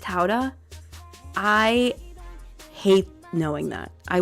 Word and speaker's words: Gouda: It's pronounced Howda. No, it's not. Gouda's pronounced Howda?